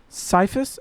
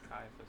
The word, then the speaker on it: Caiaphas: Annis then sent him bound to Ciphus. How did you say it? Kaiapus. Caiaphas. Ka I don't Yeah. I don't have a natural want to say a K. Caiaphas, the high priest.